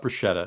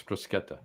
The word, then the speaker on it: bruschetta: It's not bruschetta. It's brusqueta. Bruseta. Exactly.